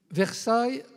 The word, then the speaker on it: Versailles: Dame devient Notre Dame versaill on m'a dit il faut prononcer versaill comme à versaill donc c'est même aux